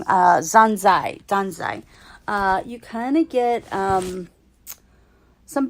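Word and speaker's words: Dazai: You kind of get a backstory about Zanjo. I think that's how you pronounce it. Sorry, I was pronouncing it wrong. Danzai.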